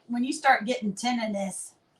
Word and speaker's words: tinnitus: when you start getting tinnitus, it's I thought it was tinnitus. Tendonitis. No, that's not it. That's not it. Tinnitus. That's how you say it.